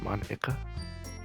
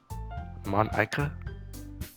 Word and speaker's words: Monika: Monka. Huh? That's not how you say my name at all. Monika.